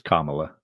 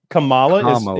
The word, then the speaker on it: Kamala: that's Up For Debate it's not though it's Kamala what am I saying that's different than kamales incorrect yeah it's like comma is it just like caramel and caramel mispronounced her name as